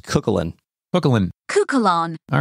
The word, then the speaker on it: Cúchulainn: But his name is properly pronounced Cúchulainn.